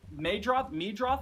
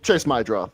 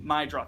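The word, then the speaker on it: Meidroth: Meadroth? I never know how to pronounce his name. Chase Mydroth. Show some respect. Mydroth.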